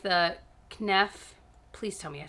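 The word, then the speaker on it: Kneipp: I really like the Knef, please tell me I said it right. No, Knife.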